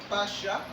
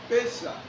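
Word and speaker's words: פסח: C'est un même mot, mais qui se prononce de deux manières. Il y a Pacha ou Pesa.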